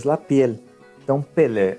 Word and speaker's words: Pelé: O acento agudo, gente, é um acento aberto, né? Então, esse acento aberto, pois ao final da pronúncia você realmente mantém a boca aberta por mais tempo que o normal. Vocês vão perceber na pronúncia que a minha boca vai se manter mais aberta ao final, ok? Na verdade, eu mantenho ela aberta ao final da pronúncia. Um exemplo, Pelé, ó, Pelé. Aí já aparece a diferença, olha que engraçado.